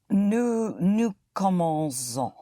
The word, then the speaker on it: commençons: Nous commençons. Nous Yes, but you hit the ending. Nous commençons. Nous commençons. Once more? Nous commençons. Son. Nous commençons. Yes, but hit the ending. Nous commençons.